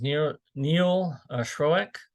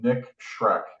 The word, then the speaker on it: Schreck: All right, so next up is Neil Schroeck. And then after Neil is Andrew Koplowitz. And Neil, I apologize if I mispronounced your name. Are you there? You got me twice, Ryan. It's Nick Schreck.